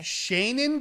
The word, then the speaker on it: Shaenon: We are with the wonderful Shaenon. Am I pronouncing your name correctly? Shannon with a long A. Shaenon.